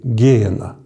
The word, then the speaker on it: геена: слова гиена Ну вернее в греческом языке ударение ставится на первую е геена а в такой такой